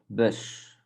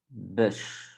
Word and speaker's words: bus: So this one is a bit tricky because this one we pronounce the U, we pronounce as a bit like yeah, a bit like Y, I would say. So the bus, the bus.